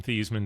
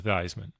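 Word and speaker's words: Theismann: To change the pronunciation of his name from Theman to Thyman.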